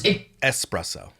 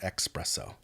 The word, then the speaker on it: espresso: five shots of espresso I know it's espresso it's not espresso dumbass espresso but I think that's a stupid way to say it well it's